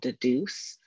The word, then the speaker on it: Dedoose: that you're looking at right now is called deduce it's a very accessible software that you can